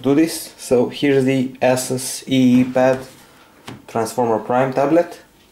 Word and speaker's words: ASUS: So here's the ASUS EEPad Transformer Prime tablet, or ASUS, as some name this brand. Some pronounce this ASUS, some pronounce this ASUS, whatever.